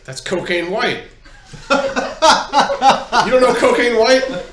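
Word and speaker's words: Wight: Caskin's like, "That's Cocaine White." You don't know Cocaine White? Celebrity mage, celebrity mystic, She's sure. and you don't. Yeah. And by the way, it's spelled W-I-G-H-T.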